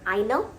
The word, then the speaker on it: eine: Feminine, einer. So you have to pronounce that ending a sound to differentiate.